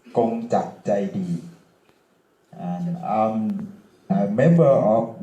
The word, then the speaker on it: Kongjak Jaidee: My name is Kongjak Jaidee, in Thai pronounced Kongjak Jaidee, and I'm a member of World Party Thailand.